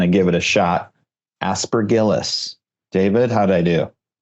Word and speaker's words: aspergillus: give it a shot aspergillus David how'd I do it's like a hard G aspergillus aspergillus dang it um